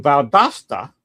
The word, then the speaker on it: Valdosta: But him and his mother moved down to Valdosta. And that's the correct pronunciation, not Valdosta or Valdosta. That's how it's pronounced. A little Spanish there.